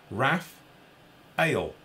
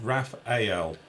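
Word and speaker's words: Raphaël: here's the lesson Phil you're pronouncing the French Raphael incorrectly it's pronounced Rath Hale not Raphael you said he did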